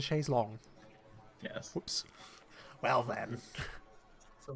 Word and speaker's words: chaise longue: It's not a chaise lounge, it's a chaise longue.